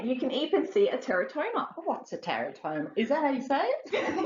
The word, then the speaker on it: teratoma: displays there yeah you can even see a Teratoma what's a Teratoma is that how you say